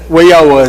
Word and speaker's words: WIOA: WIOA or something like that? WIOA is how it's pronounced.